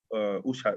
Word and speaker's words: Ushat: We say ushat, like shadow hour.